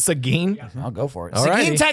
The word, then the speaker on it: Seguin: and Applebee's will open in, how do you pronounce it? Seguin? Seguin. Oh, it's Seguin.